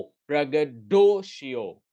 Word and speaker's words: braggadocio: ओ, ब्रगडोशियो, ब्रगडोशियो, ब्रगडोशियो, ब्रगडो, dough strongest accent, ब्रगडोशियो, ब्रगडोशियो।